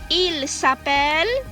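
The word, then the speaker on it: ils s'appellent: one the last one il sapel el sapel now look this very closely the ent at the end is always silent so you don't say il sup along elsa belong you say il sapel el sapel okay i'm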